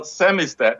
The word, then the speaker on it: samizdat: Well, Samizdat is the way you probably should pronounce it, but it's That's Russian. French. So. you do the Z as Z for you, isn't it? Yeah. Yeah. And so that's a Russian term from long ago.